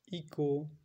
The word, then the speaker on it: echo: যেমন ইকো, rhino, ইকোতে দেখছি ECHO, ইকো। এক্ষেত্রে দেখলাম যে ECHO, ইকো, তাহলে CHO, তাহলে সি এর পর যেহেতু এইচটা আসছে সেই জন্য সাইলেন্ট হয়ে যাচ্ছে এবং উচ্চারণটা হচ্ছে ইকো, এইচটা নেই, ECHO, ECO।